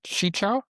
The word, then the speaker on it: Qichao: Hi Hi Chi Chao. Did I pronounce that right?